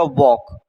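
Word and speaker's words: walk: आपको पता है नाइफ में तो के साइलेंट है और फिर हमारा नाइफ लिख जाएगा वॉक। वॉक में क्या साइलेंट है? एल साइलेंट है।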